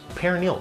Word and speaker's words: peroneal: And the hardest part of this disease is pronouncing the name because it's tough. It's peroneal.